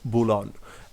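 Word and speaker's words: Boulogne: And reaching the coast of বুলন, এর উচ্চারণটা কি আমি এখানে লিখে দিয়েছি, বুলন।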